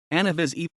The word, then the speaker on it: Anna Vissi: Anna Vishy, Greek, nu alpha beta sigma sigma eta, pronounced Anna Vishy, locally Anna 8, born December 20, 1957, also